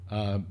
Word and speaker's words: Krampf: spelled let's see here, Krampf. I can use whiteout on my screen. Yeah, not P. No. It's PF, not PH. Okay, good.